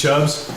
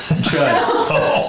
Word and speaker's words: Chuds: And did you say his name was Chubbs? Chuds.